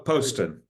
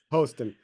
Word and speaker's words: Poston: and and and please correct me if I mispronounced it Poston Poston yes yeah that's okay how are you doing